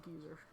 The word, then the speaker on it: geyser: Oh, here, how do you pronounce geyser? UK. Yes, yeah, it's definitely British. They pronounce it geezer in England, so it's a British thing.